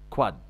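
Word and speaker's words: quad: 4 في 5 وقبلها 1 تبقى 4، كواد تنطق كواد او كوادرسبس مثلا اللي هي زي عضلة الكوادرسبس اللي هي عضلة رباعية الرؤوس.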